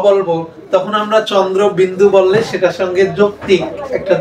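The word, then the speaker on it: চন্দ্রবিন্দু: বয় শূন্য র, যেটা কোনোভাবেই চন্দ্র শূন্য হয় না, চন্দ্র বিন্দু হয়।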